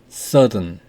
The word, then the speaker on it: southern: southern 발음을 한번 들어보겠습니다. southern, southern, 남부, 남쪽.